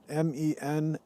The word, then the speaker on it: menstruum: cider vinegar this is the menstruum m-e-n-s-t-r-u-u-m and the u-u-m part is pronounced um the menstruum that's the